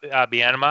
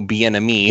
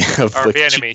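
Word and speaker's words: Bieniemy: But weren't they also talking about Bienema, if I'm saying his name right, the old coach from Wisconsin? I only know Bienemy. Bienemy. Sorry, Bienemy. I mispronounced his name.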